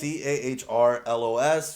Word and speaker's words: Cahrlos: if they want to follow you at Carlos, but it's spelled with C-A-H. Good job. Right? It's CAHRLOS. It's an H in the middle.